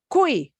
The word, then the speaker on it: cuy: Wow, it's cuy, Cuy. cuy. Okay, so if Y comes at the end, we pronounce it like E.